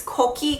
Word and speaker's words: Kokie: It's Kokie Cosmetics because the little logo is an elephant, and Kokie actually comes from Kokie, which is how you say elephant in Korean.